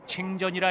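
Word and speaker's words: 清真: 이렇게 만들어진 음식은 이슬람 신도들이 운영하는 가게에서만 먹을 수 있는데 란저우시 내에서 흔히 볼 수 있는 중국식 발음으로 칭전이라 읽히는 간판이 그 표식이다.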